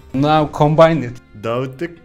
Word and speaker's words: dağıtık: It's dağıtık defter. Come again? Dağıtık defter. It's hard for even for Turkish people. Oh no. I'm gonna absolutely murder this one. Let's start with distributed. Can you just say it like really slowly? Yes. Dağıtık. Okay. Dağıtık. That's perfect. That's you landed.